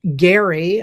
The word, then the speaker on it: Gerry: It actually comes from um Elbridge Gary. I don't, you know, it's one of those things that's how you pronounce his name, but they call it gerrymandering.